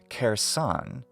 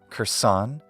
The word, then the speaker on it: Kherson: syllables could work son when we have an R sound before an e sound in English we tend to want to reduce that vowel thus instead of kersan saying her son is more natural for us now some people switch the accent to the first syllable and they say Curson or even Kirsten but I think it's best to retain the accent on the original syllable wherever English phonetics may allow thus cursan Curson or Curson